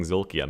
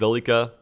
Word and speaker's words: Zolika: I don't know why I keep saying Zolkia. Man, now I understand why people mispronounce names like on stream so often. For some reason, it's hard to read. It's Zolika.